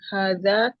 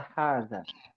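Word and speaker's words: هذا: Apa itu kata hadza? Mungkin ha di sini nggak kelihatan panjang, ya. Ya. Dia sebenarnya dibacanya panjang, 2 harokat.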